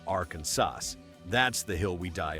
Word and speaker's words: Arkansas: Imagine the audacity, a state spelled Arkansas, yet legally demanding you say Arkansas.